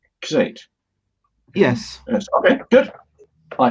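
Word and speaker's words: Xate: name is again please it's it's x-a-t-e like that and that's pronounced s8 yes yes okay good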